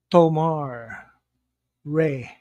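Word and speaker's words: Tomar-Re: mcon mcgonagle as abensur tomare that's how you pronounce it Tomar Tomar Reay a anyway this is the planet a where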